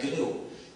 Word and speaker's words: GNU: Entonces en inglés se debe pronunciar gnu.